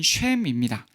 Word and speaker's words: 셈: 한글 성경에서는 셈이라고 표현하였지만 원래의 발음은 쉔입니다. 그 뜻은 이름이에요.